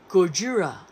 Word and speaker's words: Gojira: Gojira. I guess that's the Japanese way of pronouncing it.